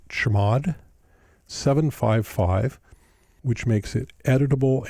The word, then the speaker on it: chmod: If it doesn't, you can make it executable by typing chmod, or as we pronounce it, chmod 755, which makes it